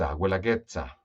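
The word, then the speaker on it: Guelaguetza: en oaxaca oaxaca está al sur vamos a pronunciarlo bien huela gets abuela getsha es la fiesta en honor a la diosa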